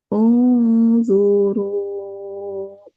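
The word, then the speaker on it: انظروا: Nah, ini y boleh dibacakan Bu Fe unzuru. Betul. Udah betul ya cuman ungnya kurang lama. Ungnya kurang lama unzuru.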